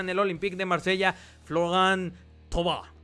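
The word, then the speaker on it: Florian Thauvin: el Olympique de Marsella floran tob así se pronuncia eh to lo vimos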